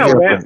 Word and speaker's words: Wampler: Always Wampler. Yeah. I've been hearing Wampler a ton. Well, it rhymes with sampler.